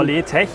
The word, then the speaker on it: LeTech: Firma Letech, ist das richtig ausgesprochen? Genau, Letech, ja.